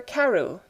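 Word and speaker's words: Crewe: difference in the name Madame Pascal pronounced it as if it were Karu instead of crew but that might be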